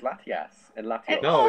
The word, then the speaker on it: Latias: general, Latias. pasta. No, It's I'm- pasta. Oh, shut up. Isn't that how you pronounce Latias? Pasta. I thought it's Latias.